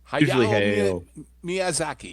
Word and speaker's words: Hayao Miyazaki: Did I pronounce that correctly, gentlemen? Hayao Miyazaki, yes.